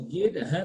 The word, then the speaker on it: guide: Considering U is silent. So how will you read it? Quit. Gid. So gid.